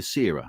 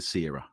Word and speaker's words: Cera: this pronunciation all right la mashira de sierra is that right the first is a k the sex is a c right brilliant because that's